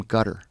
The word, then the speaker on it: Qatar: The correct pronunciation. How do you say it? Gutter. You said gutter. Uhhuh. It's back here. It's called a but So I've heard cutter. It's not cutter.